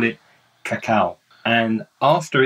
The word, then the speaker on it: cacao: until they start processing it they call it cacao and after it's been processed they call it